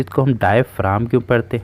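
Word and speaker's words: diaphragm: है कि इसको हम डायफ्राम क्यों पढ़ते हैं। ठीक है, यहाँ पे हमारा जो जी है वो हमारा साइलेंट होता है, इसलिए हम इसको डायफ्राम पढ़ते हैं।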